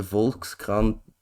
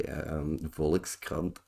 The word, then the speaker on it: Volkskrant: Now, the Volkskrant, that's how you say it in Dutch, by the way. Volkskrant.